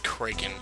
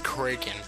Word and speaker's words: Kraken: craking in the rewards cring that's how I used to think you pronounced Kraken it's cren it's so C he's